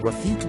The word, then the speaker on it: refute: Sugar keeps them up refute comes from the Latin reputa for to check suppress memory aid to help you memorize this refute rhymes with refuse when you disapprove of